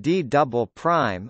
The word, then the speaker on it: D″: The lowest part of the mantle next to the core mantle boundary is known as the D, pronounced D double prime, layer.